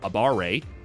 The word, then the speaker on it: abare: A baray is defined here as attacking while you are at negative frame advantage, pronounced a abare.